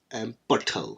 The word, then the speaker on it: Bhathal: with an MR, not the whole word, Butthal, which is spelt Bhathal.